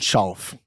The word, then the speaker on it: Schauff: Palmas para Schauf. Tudo bem? Grande, querida. me MMA. diz se eu pronunciei corretamente o seu sobrenome. Schauf. Schauf.